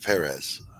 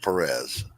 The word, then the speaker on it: Perez: I know I was corrected by somebody close to him that the emphasis is on the first syllable. Yes, you are right, Perez, not Perez.